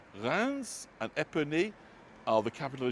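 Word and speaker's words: Reims: John with the delightful Alex port yesterday in GR which I always thought was re but that just shows what I know. Um but it's spelled R E I Ms and Rans and Epony are the capital of Champagne region.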